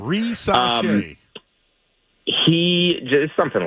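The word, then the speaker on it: Risacher: I think I got that one right. That's the pronunciation. Woj just said it, so if he said it that way, I'm pretty confident. Rissache.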